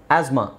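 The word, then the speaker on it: asthma: ಮಾಡಬಹುದು just say ರಾಪೋರ್ wrapper buffet debut ವ್ಯಾಲೆ ಆಸ್ಮಾ listen ಫಾಸನ್ ಎಲ್ಲಾ ಕನ್ನಡದಲ್ಲಿ ಸ್ಪಷ್ಟವಾಗಿ ಬರೆದಿದ್ದೀನಿ ನೀವು ಹಾಗೆ ಉಚ್ಚಾರಣೆ ಮಾಡಬೇಕು ಸಾಫನ್ ಸಾಫನ್ ಅಲ್ಲ ಸಾಫನ್ ಮೊಯ್ಸನ್ ಮೊಯ್ಸನ್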